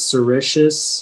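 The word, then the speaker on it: sericeous: Yeah, so the only pronunciation is sericious.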